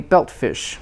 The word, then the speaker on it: belt fish: together unstressed belt fish compound main stress on belt t in belt is not released not belt fish because it's before another consonant sound belt fish and the